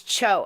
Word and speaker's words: Cho: says his last name is pronounced like Joe. It's Cho. I keep pronouncing it wrong.